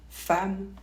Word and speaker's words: femme: devant la lettre M cela dit on prononce pas toujours en quand c'est suivi par un deuxième m par exemple le mot femme ou mental ou le prénom Emmanuel encore on ne prononce pas en donc pas toujours exemple avec les